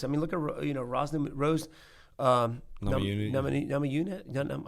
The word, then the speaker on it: Namajunas: Namajunas. How do you say her last name again? Namajunas.